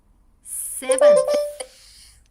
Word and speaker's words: seventh: So here your your your your th in the end is not silent.